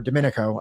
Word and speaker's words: Domenico: Liberalism by Domenico Lacerdo, or Domenico, that's how I hear Johnny saying it, so I assume that that's the correct way to say it, is that this liberal,